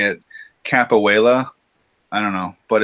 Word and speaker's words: capoeira: So you say it's called capoeira.